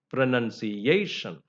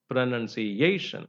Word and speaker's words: pronunciation: syllables and you know the stress falls on pronunciation pronunciation so a is given importance that's a primary stress and you also give a secondary stress stress you know pronun there you can give the secondary stress pronunciation that's that's a way we should say that word uh so we have